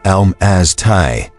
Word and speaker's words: Almasty: The name Almasty, pronounced Almasty, appears in at least 8 different languages: Mongolian, Turkish, Kazakh, Persian, Russian, Armenian, Georgian.